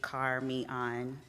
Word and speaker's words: Carmeon: again my name is carmian if you didn't know it is indeed car me on it's spelled phonetically carmen um and i am